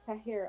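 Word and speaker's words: Jahira: My real name is Tahira, but it's spelled with a J. So the J has always been silent.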